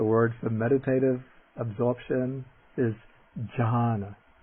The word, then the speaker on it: jhāna: ja jah the word for meditative absorption is john john and then the nasal palatal nasal the n